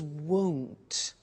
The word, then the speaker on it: won't: Now, the negative form we mentioned before, you heard me with the money, is won't. Be careful with the pronunciation. It's not want, it's won't. So the example is, I won't buy it.